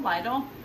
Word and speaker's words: Lidl: And have you heard of Lidl? Lidl, L-I-D-L. So weird, but that's what it's called. We had to ask them because we didn't know how to pronounce it. We were like, Lidl, Lidl.